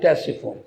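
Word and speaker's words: Ctesiphon: of tashifun kasri madhyayan is called testiform in english that's your phone c is silent in in the beginning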